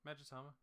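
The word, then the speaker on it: Magatama: You said it right, Magitama.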